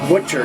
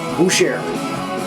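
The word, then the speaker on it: Bütcher: I don't know what you pronounce that thing as, but it's not pronounced Butcher, it's pronounced Boucher.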